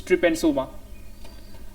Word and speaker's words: Trypanosoma: I think it's pronounced as trypanosoma. Remember that. It's trypanosoma.